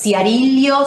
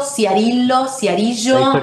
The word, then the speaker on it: Ciarillo: Martín, me decís si pronuncié bien tu apellido, porque no hay cosa más fea que te pronuncien mal el apellido. Es Ciarillo, Ciarillo.